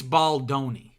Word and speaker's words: Baldoni: out because it's funny someone commented basically saying it's baloni like pepperoni it rhymes with pepperoni you keep saying baldani and to that person I say thank you very much I'm from Rhode Island I'm Italian I'm going to say baldani baldani that's how